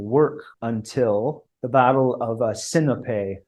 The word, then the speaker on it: Sinope: until the Battle of Sinope, which was or Sinope, the Greek pronunciation.